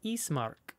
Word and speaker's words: Ismark: name or the okay this guy's name is ismark i-s-m-a-r-k but he says eastmark and he's the son